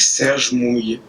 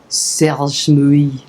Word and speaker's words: Serge Mouille: Serge Mouille. Serge Mouille.